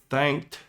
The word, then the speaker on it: thanked: Now, one thing you'll notice here, thanked, the ED can sometimes sound like a final T sound, at least in US English. So if you're hearing a T there, your ears are correct. It is a bit different.